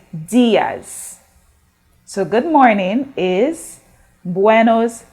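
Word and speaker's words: días: eye for spanish words when you see that accent you have to stress on the sound so for the i you say so instead of saying diaz you say diaz so good morning is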